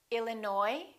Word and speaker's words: Illinois: cupboard my kitchen cupboard silent s Arkansas Illinois Island debris all right